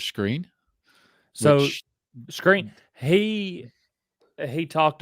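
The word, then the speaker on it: Skrine: his last name again they they've been pronouncing for the past couple of weeks as buster's screen so screen he he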